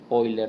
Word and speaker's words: Euler: bien en honor de leonard oyler no que no se escribe euler de ahí viene este